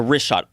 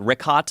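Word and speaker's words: Richat: Yeah, the wrist shot, R-I-C-H-A-T. It's worth mentioning that. Got it already here. Yeah, in the first couple, I just want to say it's wrist shot. I used to call it Rickot.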